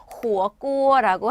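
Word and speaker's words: 火锅: 샤브샤브는 발음이 호어꼬어라고 합니다. 샤브샤브는 호어꼬어 하시면 되는데, 자, 여기서 잠깐 이거 뭐예요?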